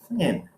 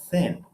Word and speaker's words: thin: guys hear the difference when he said it tin right it's uh one of the elements of the world a tin right and thin thin okay they are very different